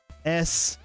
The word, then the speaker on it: snoy: Now I've seen the new one where they refer to Sony, they spell it like S-N-O-Y, like, oh, like soy, snoy.